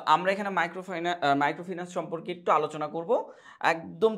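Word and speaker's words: microfinance: কিনা না যদি আমি সাবকন্টিনেন্টাল ভাবে ধরি তাহলে মাইক্রোফাইনান্স এটা ঠিক আছে বাট এটার উচ্চারণ সঠিক উচ্চারণ হচ্ছে মাইক্রোফিনান্স ঠিক আছে আচ্ছা মাইক্রোফাইনান্স বা মাইক্রোফিনান্স সম্পর্কে আমাদের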